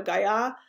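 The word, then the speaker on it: guyot: it's similar to that i believe it's a french word so you would say in the french pronunciation so it's a sea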